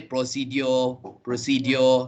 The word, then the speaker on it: procedure: So the first one is not pro. Okay. So don't say pro. It's And then pay attention to the final syllable, the D-U-R-E. The D-U-R-E pronunciation is J, not dio. Okay. Many people say procedure, not dio. It's J. Procedure.